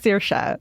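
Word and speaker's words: Saoirse: And Sosi, how do you say her name? Of the liver. How do you say her name? Sersa. Sersa. Sersa Rona.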